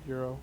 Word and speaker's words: gyro: the gyro stuff yeah euro it's euro the g is silent i love me some guy rose i'm kidding the worst